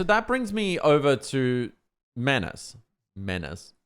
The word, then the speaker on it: Manus: brings me over to menace menace is it Menace or Manus I'm sure I'm sure they pronounce it Manus um I've heard menus I've heard Manus who cares so this apparently caught